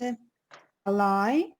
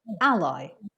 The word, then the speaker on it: ally: the next one is a lie um a lie a lie no the stress is on the first syllable ally alloy a country